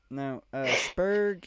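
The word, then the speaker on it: spurge: Spurg is a fucking family.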